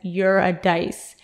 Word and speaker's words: Eurydice: When you do give it a little read, keep in mind that he says to pronounce Eurydice as you're a dice so that the rhyming makes more sense.